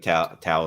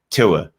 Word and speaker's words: Tua: I'm never going to say his name correctly. It doesn't matter how much I draft him, and how much I sing his praises. Tua. Just call him Tua.